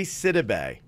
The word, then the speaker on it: Sidibe: to Bay City Bay you're saying how I pronounce it wrong the first time Sidibe SE dabangg Gabourey Sidibe Sidibe oh my god okay s uh-huh i